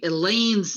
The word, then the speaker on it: Elaine: When people say Elaine's name, they always add the phrase, rhymes with pain.